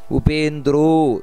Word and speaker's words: ಉಪೇಂದ್ರೋ: ಕೆಲವು ಉಚ್ಚಾರಣೆ ಬಗ್ಗೆ ಗಮನಿಸಬೇಕಾದದ್ದು ಉಪೇಂದ್ರೋ ದೀರ್ಘ ಇದೆ ಉಪೇಂದ್ರ ವಾಮನಃ ಪ್ರಾಂಶುರಮೋಘ ನೋಡಿ